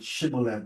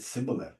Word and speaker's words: Shibboleth: So now they can't even say the word Shibboleth no more. Wow. He said Sibboleth.